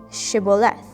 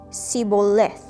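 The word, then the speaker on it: shibboleth: said no i'm not they would tell him to say shiboleth if he was from ephraim he would say sibolith because of because people from ephraim cannot pronounce the word correctly then they would take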